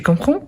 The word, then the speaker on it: comprends: deuxième personne du singulier on a le 2 S mais on ne les prononce pas et à la troisème personne du singulier on a le D à la fin je comprends tu comprends il elle